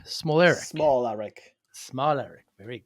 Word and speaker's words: Smolarek: Jake, uh, uh, it's pronounced smaller Eric. Smalleric.